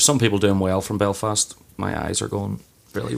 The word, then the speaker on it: Belfast: but here we go is it Belfast or Belfast Belfast Belfast as well okay so I can't put the emphasis on the last syllable you can if you want I will get the way I would sit Belfast you know fast okay that's what one would be saying I think the wrong way time and you're just